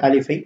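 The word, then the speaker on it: ألف: அந்த வகையிலே முதலாவதாக இந்த எழுத்து உங்களுக்கு தெரியும், அலிஃப். இந்த அலிஃப் என்ற இந்த எழுத்தை பொறுத்தவரையிலே இதனை எவ்வாறு உச்சரிக்க வேண்டும் என்பதை நாங்கள் புரிந்து கொள்ள வேண்டும். நுனி நாக்கை மேல்வாய் முகட்டின் மீது வைத்து உச்சரிக்க வேண்டும்.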